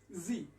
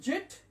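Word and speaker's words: Z: লাস্টের অক্ষরটা আসি, এটার উচ্চারণ হচ্ছে জি, এটার মূল উচ্চারণ হচ্ছে জি। আরেকটি উচ্চারণ আছে, সেটা হচ্ছে জেড, এই ড হবে লাস্টে। আমরা জেট যেটা বলি, জেট পরিপূর্ণ ভুল, জি উচ্চারণ হবে এবং জেড হবে।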